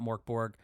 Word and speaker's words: Mörk Borg: that is one of the coolest things about Mor Borg they really do encourage you to write material